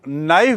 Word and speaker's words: knife: के मतलब क, पर हम नाइफ बोलते हैं उसमें क नहीं आता, तो ये साइलेंट है.